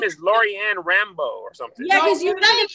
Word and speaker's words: Rambough: It's spelled RAMBOUGH. It don't even matter though. The sound. Oh, it's Louisiana. It's like French. Like sourdough. The sound of it though, Rambo.